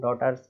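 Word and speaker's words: daughter: डॉटर बेटियां, जानते ही हैं हम डॉटर्स, तो डॉटर इसमें भी DAUGH जो है वो साइलेंट हो गया, केवल इतना ही बोल रहे हैं डॉटर, है ना, डॉटर, इस तरीके से।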